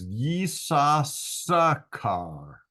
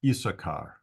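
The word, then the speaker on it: Issachar: is the r sound so this would be pronounced ye SAS yeas car you could even stretch that out a little more and say it's ye car so uh again it's an awkward to pronounce name and even though there are three s sounds indicated in the text I think most people pronounce it isachar so we'll just go with isachar it's easier to say than Isa sakar then Leah conceived again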